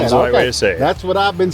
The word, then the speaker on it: HAMM: Mostly guys say hom, some guys say ham. Yeah. Yeah. H's the right way to say ham.